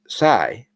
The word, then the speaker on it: psi: The letter P is silent. And the next one is psi, PSI.